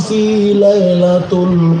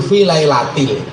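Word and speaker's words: في ليلة القدر: Inna anzalnahu fi lailatul qadr. Kan salah. Yang kan harusnya jar majrur fi lailatil. Membacanya fi lailatul.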